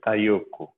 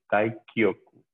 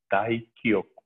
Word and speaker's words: Taikyoku: Taikyoku Shodan, bien hechecita, ojo con la pronunciación, que a veces hay gente que se come el Taikyoku y dice Taiyoku, no es Taiyoku, es Taikyoku, Taikyoku.